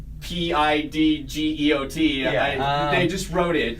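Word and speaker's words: Pidgeot: the way said earlier it's pronounced PID geot yeah I just wrote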